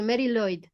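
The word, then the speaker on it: Mari Lwyd: The Mariloid. That's how you pronounce. Yeah. The W is being pronounced as as a oo kind of sound.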